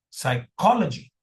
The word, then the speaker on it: psychology: So anyway P is silent.